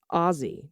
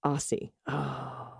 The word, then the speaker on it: Aussie: or really anything anti-pawdien it's pronounced ozzy not aussie sorry i've kept my